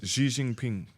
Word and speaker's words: Xi Jinping: How do you pronounce his name, Nathan? Xi Jinping.